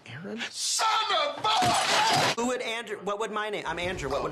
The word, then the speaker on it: Aaron: Gabby hey Ron where are you where is ay-ay-ron right now it's pronounced Aaron who would and what would my name I'm